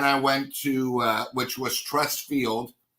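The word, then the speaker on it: Truist: Then I went to, which was Trust Field. I'm pretty sure that's how it's pronounced. Trust, but it's spelled different.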